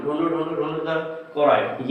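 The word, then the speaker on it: choroid: Second is कोरोइड, ठीक है, चोरॉइड मत बोलना, कोरोइड एक्चुअली एक डिक्शनरी में देख रहे थे तो उसका जो प्रोनाउंसिएशन था इसको चोरॉइड बोल रहा है, ठीक है। और बाकी के ब्रिटिश और अमेरिकन इंग्लिश में आपका कोरोइड पढ़ते हैं इसको, ठीक।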